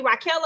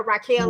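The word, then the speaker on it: Raquella: that what you say her name is actually raela because I've been calling her Raquel like she gon Beck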